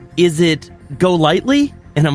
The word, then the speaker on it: Golightly: It's Golightly." And they're like, "Oh, I almost had it." And I'm like, but it is. They pronounce it's just like it sounds. It's just like it looks. It's Golightly, and so it's so funny.